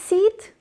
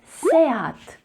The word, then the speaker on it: SEAT: Do you think it's seed? Well, it's definitely not seed. It is written like an English word seed, but it's not pronounced like that. It actually is Seat. Seat. So remember, don't say it as seed because it's actually 2-syllable word.